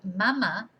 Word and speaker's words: mama: yeah, or mummy, like, so mother is madre, and mum or mummy is mama, with an accent on the second A, mama. If you don't have an accent, you just say mama, that is breast, or boob even, you know, so that